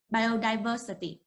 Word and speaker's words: biodiversity: Remember, the stress of this word is on the letter the. So you need to speak it. You need to pronounce it like this. Biodiversity. Remember to put the stress on the word, on the part of the word the. So biodiversity, biodiversity.